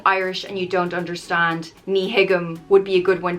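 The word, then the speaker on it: Ní thuigim: means i don't understand it's pronounced knee higgum nihigam i asked my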